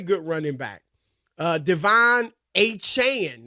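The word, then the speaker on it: Achane: running back uh Devon achan that's how you say it a Chan he he corrected that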